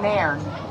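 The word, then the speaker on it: Nairne: How do you spell it? E-L-I-Y-T. Okay. And it's Nairn.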